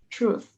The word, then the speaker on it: truth: try over time and careful with the pronunciation of truth too usually you kind of you mention the th like truth truth sorry yes yes exactly